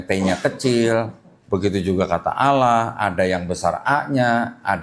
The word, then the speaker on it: Allah: Di sini juga ada kata tulisannya ALLAH. Ya, kita kalau baca ini bacanya Allah, karena nggak ada tasdidnya pada sini Pak. Jadi kita bacanya Allah aja gitu.